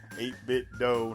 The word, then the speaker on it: 8BitDo: how do you pronounce 8-bit doe i'm pretty sure it rhymes with nintendo because that's what they model their controllers after nintendo controllers 8-bit doe nintendo i digress and